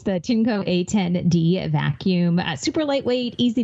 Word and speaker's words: Tineco: So again, it's the Tinco, and that's spelled TINECO.